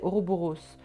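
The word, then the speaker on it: ouroboros: comment ça se prononce c'est oroboros pas à l'anglaise je voulaai je vlaai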